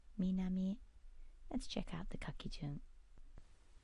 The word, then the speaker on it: 南: And the pronunciation is minami, minami.